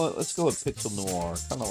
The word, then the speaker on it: noir: Pixel Neer. Noir. Sorry. Noir. I'm pronouncing it wrong. I don't know how you get new Rir with an I in there. That's weird. But yeah, noir.